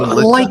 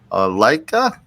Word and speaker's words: Lycka: Is that correct in saying Lycka? Lycka is how I pronounce it.